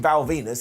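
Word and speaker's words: Val Venis: So he is defending his gold here against Ken Shamrock, Goldust and Val Venus, and yes, his name rhymes with penis.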